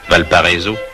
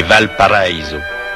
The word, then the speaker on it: Valparaíso: Que l'on prononce affreusement à la française, Valparaiso, c'est Valparaiso, la vallée paradis.